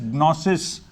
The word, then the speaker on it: gnosis: It's pronounced as gnosis.